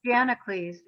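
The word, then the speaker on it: Gianaclis: I think, is it Giancalis or Giancalis Caldwell? I don't know how you say her name. I've just read it. Suzanne. Janacles. Janacles. I was not saying it right at all.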